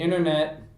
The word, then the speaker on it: internet: the internet trolls the internet by the way we don't pronounce the T in American English the internet trolls a